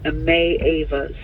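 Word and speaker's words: Maeva: M-A-E-V-A. I know how to say it. I spell it. May Ava.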